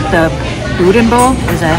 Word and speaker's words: boudin: I actually like the boudin bowl. Is that how you pronounce it?